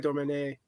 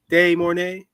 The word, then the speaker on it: De Mornay: First off, the beautiful Rebecca Dormet. I'm saying her last name wrong. De Mornay. Rebecca De Mornay.